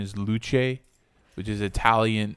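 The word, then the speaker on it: Luce: anim little anime girl mascot named apparently the pronunciation is luche which is Italian not Italian got to see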